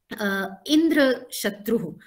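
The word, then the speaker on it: इन्द्रशत्रु: And if you are putting accent in the first syllable, then you are saying one who has killed one whose killer is Indra. So this is how probably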